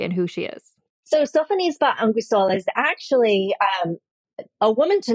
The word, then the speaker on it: Sophonisba Anguissola: Speaking of friends and speaking of art, I do not know how to pronounce this person's name, so I will let you do it, but it's like Sophonisba. Sophonisba Anguissola.